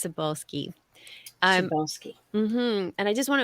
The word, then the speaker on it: Cybulskie: medieval yeah and you are asking how to pronounce my last name everyone stumbles over it so don't worry about it it's sabulski sski and I just want to apologize to